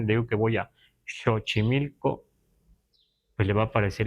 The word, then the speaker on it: Xochimilco: por ejemplo en ag debemos pronunciar chochimilco pero si vamos con el grueso de la gente lo vamos a escuchar sochimilco pero es muy fácil No es muy mucha diferencia No pero si escuchamos a alguien decir sochimilco no nos parece extraño porque ya está castellanizado pero la pronunciación mejor es chochimilco Y entonces debemos escribir